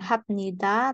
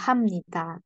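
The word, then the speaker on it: 합니다: malah dibacanya miem ya Jadi bukan hapnita tapi eh hamnita Nah ini juga ini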